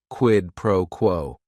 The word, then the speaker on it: quid pro quo: Each word is only 1 syllable. And if you're saying it together, the stress is kind of on that first word and that last word, quid pro quo.